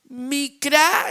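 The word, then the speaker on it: מקרא: Ahora, otras palabras hebreas para las fiestas del Eterno son micrá. son micra es la palabra correcta e para pronunciar y significar convocar gente.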